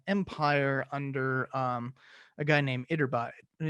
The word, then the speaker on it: Iturbide: under a guy named Iturbide. Gotta not read it and actually pronounce it like it's a Spanish word.